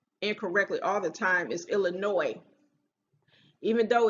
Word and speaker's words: Illinois: that people pronounce incorrectly all the time is illinois even though it's spelled like illinois without the e that's not how it's pronounced it's not pronounced illinois it's pronounced illinois because i think that word is of a